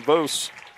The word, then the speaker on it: Vos: It's Vos. Vos. Vos. As Moose, Vos. Vos.